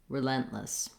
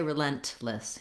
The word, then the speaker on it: relentless: vowels correct is to start with the lent syllable. Try lentless, relentless. That's going to help that lent stay in your mind as the stress syllable. And then you notice when I put it together, relentless, that I typically don't say relentless. You can't hear a release of air for this T sound.